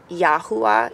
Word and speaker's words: Yahuah: pronunciation of that's how you say god's name yahuwah it's spelled yahuwah so y-a-h-u-a-h but the correct pronunciation